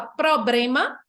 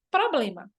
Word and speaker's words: problema: Na pronúncia, tem muita gente que fala problema, quando o certo seria problema.